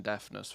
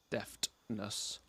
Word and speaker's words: deftness: we're getting that 10 deafness from deftness gotta gotta remember to pronounce the t okay all right sure